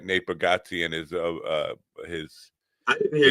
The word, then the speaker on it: Bargatze: John Oliver got an Emmy, and that one of the things that Nate Bargatze is pronounced Bargatze. Yeah, Bargatze. He says Bargatze.